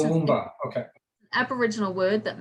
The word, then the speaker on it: Toowoomba: Toowoomba. It's Toowoomba, okay.